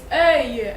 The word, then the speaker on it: œil: Another combination, it's a word itself, it's gonna be O-E-I-L, and it makes œil, œil, like that is an I.